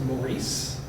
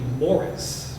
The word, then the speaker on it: Maurice: Higgins were Irish and the street that everybody pronounces Maurice is actually Morris because the Irish pronunciation of m-a-u-r-i-c-e is Morris and the French one is Maurice but nobody believes me